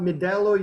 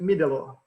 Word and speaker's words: Middelo: one important question so you pronounced it not medellin you pronounce it middle law yeah okay okay i didn't know all right